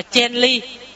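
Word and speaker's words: 建立: Kiến lập phải đọc là chen ly.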